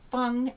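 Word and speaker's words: 蜂: and this one is wasp pronounced fung and you can see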